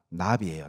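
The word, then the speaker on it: נביא: 여러분, 구약의 선지자, 예레미야 선지자, 이사야 선지자 할 때 그 선지자의 히브리어가 나비예요. 나비. 버터플라이가 아닙니다. 발음으로 나비입니다. 나비.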